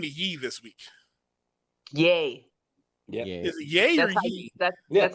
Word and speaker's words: Ye: he changed the name to yi this week yay yeah yeah yeah that's how you pronounce it yes okay all right well well